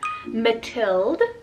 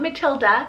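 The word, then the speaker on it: Matilde: popular names are leonore matild not matilda matild with an e ending beatriz with a tri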